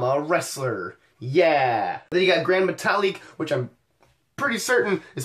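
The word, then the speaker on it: Gran Metalik: on TV keeps saying grand metal leak like you put the emphasis on the last syllable if I remember my span of class is correctly supposed to go on the second to last syllable but less there's next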